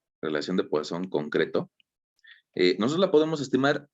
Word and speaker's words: Poisson: Mira, la relación de Poisson o de Poisson, si nos ponemos un poquito franceses y lo pronunciamos como deberíamos, la relación de Poisson